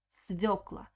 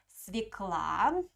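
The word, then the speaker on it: свёкла: have lots of svokla svokla sometimes uh you can hear another pronunciation of this word uh some uh native speakers uh call this vegetable like svekla swikla uh but you need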